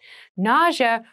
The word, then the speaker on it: nausea: rash NAA NAA na NAA is a very interesting word with an interesting spelling NAA is the pronunciation nausea refers to a medical